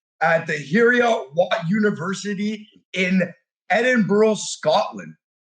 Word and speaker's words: Edinburgh: Edinburgh? Edinburgh. How did I say it? You were more like a borough. Edinburgh. No, that's how it's Edinburgh. Edinburgh. Yeah, you got to roll it.